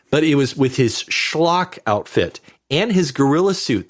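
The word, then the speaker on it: Schlock: That's how you have to say it. Schllock. Oh yeah. And the check out the trailer folks on YouTube. Schllock. You have to say it like that.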